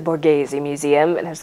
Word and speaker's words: Borghese: and the Borghese museum I said it wrong the first time when I I asked someone I was like oh I'm trying to go to the board gives me she's like you mean the Borghese Museum and I was